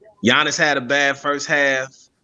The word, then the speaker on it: Giannis: I just like the fact that you're actually saying and pronouncing his name right, Giannis instead of Giannis.